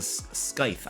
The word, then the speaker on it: scythe: Oh, the C is silent. Okay, scythe.